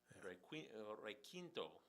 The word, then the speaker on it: requinto: No, it's spelled out phonetically. Requinto, requinto, and I know, but it's requinto in English in my country.